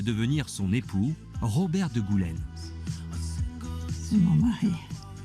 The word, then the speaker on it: Goulaine: nous vient de France votre titre se prononce marquis de Goulaine comment l'avez-vous acquis je